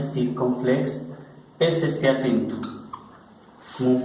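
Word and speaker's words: circonflexe: Este acento circunflex, se pronuncia circunflex, es este acento, como un pequeño gorrito que vamos a encontrar ubicado en todas las vocales.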